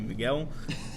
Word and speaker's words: Michele: of different names and in italy the way to say michael is miguel so my name is pronounced i mean even all my friends never really say right but it's miguel it's just it's spelled m-i-c-h-e-l-e like michael i mean which you